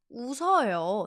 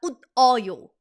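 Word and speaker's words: 웃어요: Usseoyo, not ut o yo.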